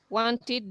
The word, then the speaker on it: wanted: All verbs ending with the sound t, when they take ed, it's going to be pronounced like id.